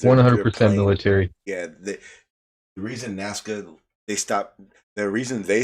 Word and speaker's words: Nazca: Shawn okay well that's what I meant but pronounce it say it naka is not what it is is it not naka not nasca it's Matt I'm telling you right now it's pronounced Nazca maybe the S I just don't see an